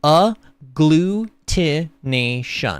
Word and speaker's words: agglutination: in syllables for me to read and it's pronounced a glutation so yeah it is a glutin it is